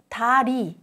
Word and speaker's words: 다리: 다리, 다리, 다리.